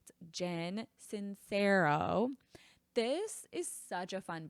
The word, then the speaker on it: Jen Sincero: I had to look at this because every time I want to say like Jen sincerero like I don't know where I'm getting these extra syllables. I don't know where I'm getting these extra letters. Jen Sincero.